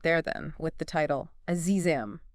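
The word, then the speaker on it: عزیزم: And uh I noticed the official charts article even made a point about the pronunciation for those wondering. It's Azizam, just like Ed sings it in the clips we've heard.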